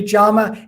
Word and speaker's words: yama: topic uh from the um traditional uh uh pronunciation would be jamma and niyama so the salt the second y